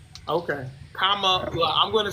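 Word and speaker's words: Kamala: k comma like the the accent thing the Kama La Kama La so just remember comma La that's the way to pronounce her name okay comma La I'm gonna say VP Harris I'm not but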